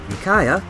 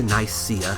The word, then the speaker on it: Nicaea: Nicaea, which is the Greek pronunciation, turned into Nicaea in English.